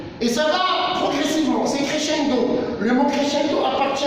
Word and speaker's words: crescendo: Crescendo, décrescendo. Et ça s'écrit ainsi. Crescendo. Le SC se prononce sur crescendo et le contraire, décrescendo.